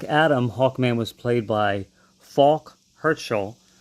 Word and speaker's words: Falk: So in Black Adam, Hawkman was played by Falk Herschel, which Falk rhymes with Hawk.